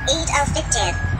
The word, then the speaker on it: Eid al-Fitr: buying new clothes for their children ahead of Eid al-Fitr, which marks the end of the Islamic fasting month of Ramadan next month. So far, no group has admitted carrying out the attack. Ben, it's pronounced Eid al-Fitr.